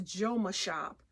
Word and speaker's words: Jomashop: one is from joma on my last video i pronounced it wrong it's a joma shop j-o-m-a shop j-o-m-a um mcm bell and then